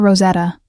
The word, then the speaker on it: Rosetta: "I'm Clara, Clara Rosetta." She pronounced it with a slight roll of the R that spoke of decades in America, but origins elsewhere.